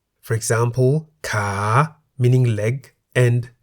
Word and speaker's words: ขา: A live syllable beginning with a high-class consonant is in the rising tone. For example, ka, meaning leg, and kan, meaning bowl.